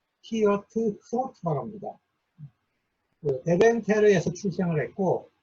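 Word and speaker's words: Geert Groote: 새로운 경건운동을 이제 출발했던 사람은 우리가 일반적으로 이제 영어식 표현으로 그루테라고 합니다. 그루테. 그런데 이분이 이제 네덜란드 사람이잖아요. 그래서 네덜란드식 발음을 그대로 이제 제가 썼는데 히어트 크로트라고 합니다.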